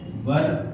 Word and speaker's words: were: ध्यान रखना, इसे वर पढ़ते हैं, वेयर नहीं पढ़ते। ठीक है, बहुत सारे लोग वेयर पढ़ते हैं, यू वेयर going, that is wrong, okay, wrong pronunciation, ठीक है, यू आर नॉट गोइंग या यू आर गोइंग।